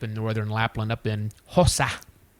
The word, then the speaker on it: Hossa: cabin that I was in way up in northern Lapland, up in Hossa. Or Hossa. There we go. The S is long. Hossa.